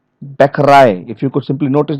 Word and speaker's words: Bäckerei: of French origin, okay, they stress the final syllable as in the source language. Final syllables here in agent. The stress is on the T part and the final letter. Agent, accent, Bäckerei.